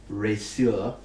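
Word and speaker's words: Reszur: What you do notice now that you've been holding it for a little while is the word resur, which is spelled R-E-S-Z-U-R, R-E-S-Z-U-R.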